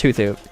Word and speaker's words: Hoothoot: So, it's Hoothoot. Thoot. Anyway, yeah, it's Hoothoot.